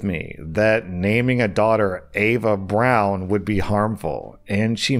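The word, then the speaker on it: Eva Braun: Also, OP clarifies, I actually didn't know this, but apparently in German, Ava Braun's name, I thought it was pronounced Ava Braun, is pronounced Ava Brown.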